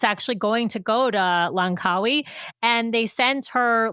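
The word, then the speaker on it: Langkawi: You had the pronunciation. Lancawi.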